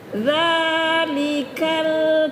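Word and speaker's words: ذَٰلِكَ: Dalikal kitabu laba fih. Begitu cara bacanya. Dza jangan bahasa ja. Nah, itu aja ibu ingat dia zal dza ya dalam Al-Qur'an tuh ya dza huruf dalal beda dengan huruf jimah beda dengan huruf zai itu sama-sama ee sama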